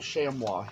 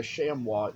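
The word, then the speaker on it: chamois: know I I even saw recently a little shamua head on Etsy that I wanted if you don't know what a shamwa is it is spelled c h a m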